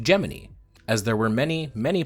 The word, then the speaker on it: Gemini: Apollo today we're going to talk about project geminy first we need to cover the obvious elephant in the room I explained this in a short already but the thing about gemin is it's pronounced geminy yes its name is derived from the third